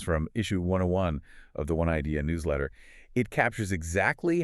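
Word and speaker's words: 1 Idea: And just for the listener, that's spelled with the number 1, but pronounced One Idea.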